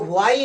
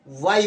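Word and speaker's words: why: यहाँ पर व्हाई लिखा है तो व्हाई ना पढ़ करके वाई पढ़ा जाएगा।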